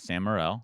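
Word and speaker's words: Sam Morril: do uh one with sam morell yep did i say his name right yep samurail funny comic jew jew oh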